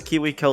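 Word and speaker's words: KiwiCo: pronounce yes yes yes kiwiko like the kits from like Mark Rober or whatever but uh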